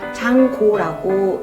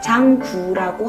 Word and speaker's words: 장구: 그런데 한자로 보면 길장에 붓고자를 써서 장고라고 이렇게 발음하는 게 맞는데, 그게 지금 시대를 이렇게 거슬러 오면서 우리나라에서 정한 게 국악통일 그 사전에 보면 장구라고 하자라고 이제 합의가 되어 있기 때문에 우리도 이제